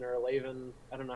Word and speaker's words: Lewan: Taylor Lewin or Lavin, I don't know how you pronounce it. Lewan.